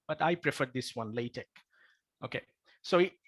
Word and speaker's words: LaTeX: me okay now what is latex actually it's pronounced as latex latex as you saw in the bridging slide